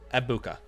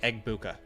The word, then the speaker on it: Egbuka: By the way, someone told me that it's a Nigerian name and you're not supposed to pronounce the G, so it's Ebuka. So I'll try not to say Egbuka anymore, but Ebuka is what it's supposed to say.